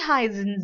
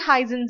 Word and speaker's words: heißen: So it's pronounced as a very sharp S. It's pronounced as very sharp S, and this is known as Z. So heißen Sie.